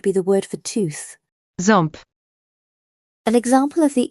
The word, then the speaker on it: Ząb: To make these sounds, your mouth position resembles saying ow or n, but you need to direct some airflow through your nose simultaneously. Try holding your nose gently while attempting the sound. If you can feel resistance, you're making the nasal quality correctly.